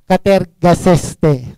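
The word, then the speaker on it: κατεργάζεσθε: Work out in Greek word is katergaseste. Pronounce it clear.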